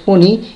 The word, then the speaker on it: Fani: that the cyclonic Sturm also pronounced ফোনি is moving নর্থওয়ার্ডস with